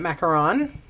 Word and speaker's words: macaron: the new uh mint macaron um I'm assuming in Canada anyway if it's uh if there's two o's that means macaroon and one o means macaron um so I'm calling it macaron and not trying to